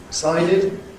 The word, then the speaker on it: decided: We decided, id is again a reduced syllable.